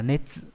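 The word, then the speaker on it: 熱: Âm onyomi của chữ này là netsu, hoặc là chữ nê và trường âm à và âm ngắt.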